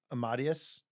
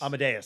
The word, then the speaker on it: Amadeus: Uh, Miles Foreman, I would say he's most known for this movie, but uh, my pronounces wrong. Amadius. Amadeas. Amadeus.